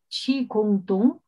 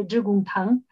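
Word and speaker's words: 致公堂: de la red global Chi-Kung-Tung. Nos va a decir Ricardo después qué pronunciación es esta. En chino mandarín sería Zhigong-Tang.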